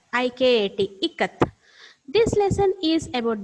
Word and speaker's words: Ikat: The exact pronunciation is Ikat. I-K-A-T.